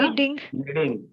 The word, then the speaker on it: knead: सर, उसको बोलते हैं निड करना, है ना। क्या बोलते हैं? निड। आईएनजी लगाएंगे क्या बन जाएगा? निडिंग। के साइलेंट है देखो, है ना, के साइलेंट है यहाँ पर।